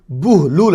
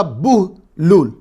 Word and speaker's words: بہلول: کے پکارا جاتا ہو۔ بہلول یہ عربی زبان کا لفظ ہے، اس کا صحیح تلفظ بہلول ہے۔ با پر پیش، ہا ساکن ہے، لام پر پھر پیش ہے، واو ساکن ہے، اور وقف کرنے کی